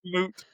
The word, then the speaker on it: moot: out with the word moot. And you know what else is great? He didn't mispronounce it as mute like so many ignorant people do.